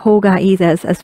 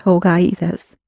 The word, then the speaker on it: ほうがいいです: But I think if we just think of ほうがいいですas being...One unit, it is easy for us to remember. So maybe we can hear Mickey pronounce ほうがいいです。ほうがいいです。 And you notice that the ho is a long sound, ほうがいいです。And if we follow